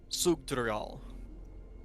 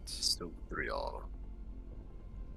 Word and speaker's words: Sugdrial: Sugdrial is how you pronounce it. Sugdrial.